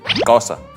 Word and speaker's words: Xhosa: Let me say the last one again, Xhosa. You have to click when you say that.